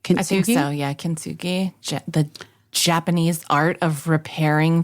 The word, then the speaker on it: kintsugi: you say it right Ki think so yeah kintsugi the Japanese art of repairing things in a